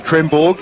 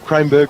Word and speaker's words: Kremborg: I've just been informed that it's actually Kremborg, so we'll go with that. Cranberg was not the preferred pronunciation. Kremborg, it is.